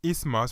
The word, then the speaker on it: isthmus: This 2-syllable word is pronounced as isthmus, refers to a narrow passage of land between two seas.